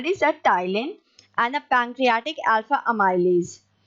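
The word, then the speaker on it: ptyalin: two digestive enzyme the tylene in this the p is silent okay so we call this a thailand and a pancreatic alpha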